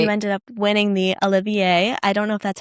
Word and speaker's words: Olivier: And then you ended up winning the Olivier. I don't know if that's how you pronounce it.